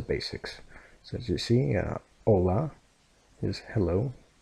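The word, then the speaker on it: hola: hello right and Catalan the L is a very how can I explain this to you it's kind of similar to how Scottish people pronounce their ELLs okay the pronounce is very very heavily I guess you could say right so all laugh like that right so as you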